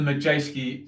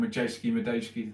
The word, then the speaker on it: Madejski: And of course, it's at the Majeski Stadium. Madejski, I always say it wrong, Madejski, there you go.